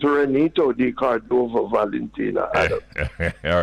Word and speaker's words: Reneto: I don't know that I can correct ex-Prime Minister, but the name, the real pronunciation is Reneto, not Renato.